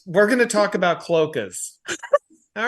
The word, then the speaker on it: cloaca: Tomorrow, we're going to talk about cloacas. All right, everybody. See you tomorrow. When I had my own Twitch channel, people talked about cloacas so much that we made it a banned